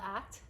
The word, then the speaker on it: ACT: It stands for acceptance commitment therapy and it's abbreviated ACT and it's pronounced ACT, not ACTs.